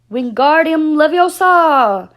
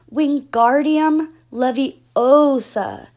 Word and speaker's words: Wingardium Leviosa: having much more luck Wingardium Leviosa he shouted waving his long arms like a windmill you're saying it wrong Harry heard Hermione snapped its weak Guardium Leviosa make the GAR nice and long you do it then